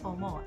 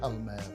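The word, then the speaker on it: Palmer: I'm never sure whether to pronounce it Pall Mall or Parma, but it is Parma champagne.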